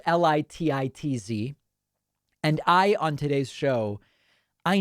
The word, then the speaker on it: Lititz: John said, David, it's not Lititz. I loved it, but it's pronounced Lititz.